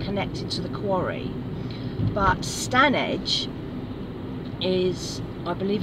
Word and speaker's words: Standedge: I did that I it turns out I mispronounced that because it's written stand Edge and I was calling it standedge and then I recently heard Robbie coming on his canal boat Diaries and he pronounces his things correctly and apparently it's stanage and it's going to